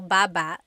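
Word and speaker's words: babâ: Baba. Then there's baba baba. Emphasis is on the second syllable syllable.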